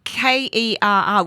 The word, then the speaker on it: Kerr: it's actually it's spelled k-e-r-r we would say like but all the like the coach of the warrior steve kerr yeah yeah it might